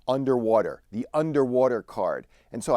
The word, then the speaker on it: UNDW3: It's called the UNDW3 card, and I believe that UNDW3 is pronounced underwater, the underwater card.